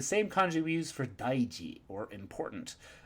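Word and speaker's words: 大事: O goto has a very similar meaning, but a very different pronunciation, so we're just going to have to try and remember that daiji and o goto are written the same way, but with different pronunciations.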